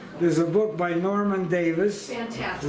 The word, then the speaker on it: Davies: If you want a one-page history of Ukraine, there's a book by Norman Davis, Fantastic. written Davies, but the pronunciation is Davis because he's Now- Welsh, not English.